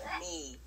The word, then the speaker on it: My: My name is me, like spelled M Y, but it's pronounced like me.